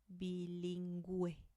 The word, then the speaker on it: bilingüe: Bilingüe. Bilingüe. So you do pronounce the U here.